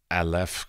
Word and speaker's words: Aleph: All right, so back to the gallery, Aleph Contemporary. Did I pronounce it correctly?